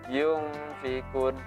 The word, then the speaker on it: yunfiqun: Cara baca ikhfa kemarin itu adalah samar-samar. Yunfiqun. Nah, ini samar-samar maksudnya ketika mulut kita sudah masuk ke nun ini, maka mulut kita langsung seolah-olah mau bunyi ke fa ini.